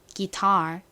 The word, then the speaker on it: guitar: 한국식으로는 보통 기타 이렇게 읽고 쓰지만 사실 미국식 영어로 제대로 발음을 하면 이 끝에 R이 있기 때문에 리을 발음이 들어갑니다. 기타가 아니라 guitar 이렇게 발음해요.